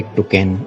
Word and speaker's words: Toucan: ये बेसिकली एक बहुत ही कलरफुल और लकी बर्ड मानी जाती है और इसमें यू साइलेंट रहता है, इसलिए इसको टोकन बोला जाता है।